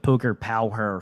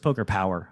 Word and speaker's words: Poker Power: i think pretty sure i called it poker pow her for like six months before somebody was like no it's just poker power i was like oh